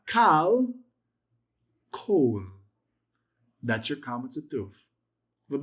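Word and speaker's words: כָּל: So, if your word begins with, if the first letter of the sentence is a kamats, it's not pronounced as an a, it's pronounced as an o.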